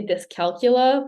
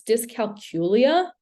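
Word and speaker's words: dyscalculia: frustrated okay this one my mouth always wants to say disc calcula but it's not it there's an extra syllable in there it's disc calcula uh so this affects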